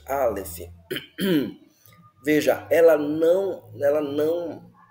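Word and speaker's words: אלף: palavra a letra Alef Alef Essa é a pronúncia Alef veja Ela não ela não ela não é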